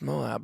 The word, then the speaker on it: Moab: is it moab utah or how would you pronounce that it's moab but like that's utah right yeah and that